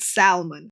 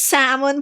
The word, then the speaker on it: salmon: I said salmon, and oh my god, people were like, "It's salmon, Paws. The L is silent."